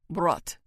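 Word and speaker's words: брат: How do you say brother? Brat. He says, rolling the R.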